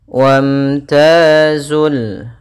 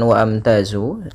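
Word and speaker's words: وامتازوا: ayyuhal mujrimun pada bacaan wamtazul di sini hamzahnya tidak dibaca bukan wa amtazu ini Hamzah atau alifnya tidak dibaca ini tanda artinya dia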